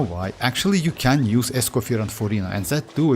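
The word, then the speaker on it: Escoffier: Because actually Escoir is like French and according like it's kind of like you don't need to pronounce that R at the end, right?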